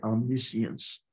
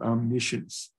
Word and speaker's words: omniscience: I think British call that omniscience, but we pronounce it omniscience.